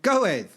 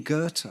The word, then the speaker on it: Goethe: i said to someone who do you think you are go with yeah yeah and yeah i mean go ed yeah none of them have read henry miller they're all idiots and sean who did a double degree in english in america yeah yeah she goes oh you mean goethe yeah yeah but it's